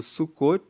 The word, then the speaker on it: Sucot: como a festa do sucot se escreve sucote com tem mudo suu c o t e significa que eles